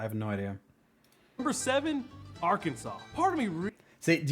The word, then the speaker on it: Arkansas: that this is pronounced Arkansas literally it's arcanis it's arcanus like if if it was called Arkansas they should take off that s and put a [